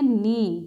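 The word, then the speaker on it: knee: हमारे जोड़ होते हैं उसको हम बोलते हैं नी यानि के घुटने के एन डबल इसको बोलेंगे नीम यह के की आवाज साइलेंट होती है उसके बाद यहां चलेंगे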